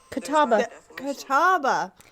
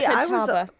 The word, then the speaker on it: Catawba: Catawba. See, Catawba. I was overthinking it. Yeah. So that makes way more sense. And it's way less syllables than we were trying to add.